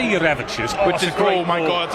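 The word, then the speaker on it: Jurevičius: Well, Matas has told me it's Jurevicius. Jurevicius, yeah. Right? So, I say Jurevicius, Which is, oh my god, it's a great line.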